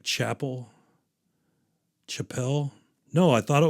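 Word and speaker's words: Chappell: thought it was like Chapel Chapelle no I thought it was Chapelle it is Chapel it is pronounced like Chapel it's I I read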